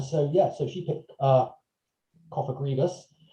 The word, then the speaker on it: Cofagrigus: So I've gone for Pokedex number 563, the Coffin Pokemon, which is Cofagrigus. Is that how it's pronounced? Yes, well done. Cofagrigus, yeah.